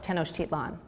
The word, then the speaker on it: Tenochtitlan: ancient Aztec capital was called Tenochtitlan and I'll spell it for you it's te n OC h TI t LAN Tenochtitlan oh great great yeah perfect that was